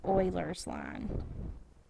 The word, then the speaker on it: Euler: it's spelled it looks like it would be pronounced Euler but it's Euler's line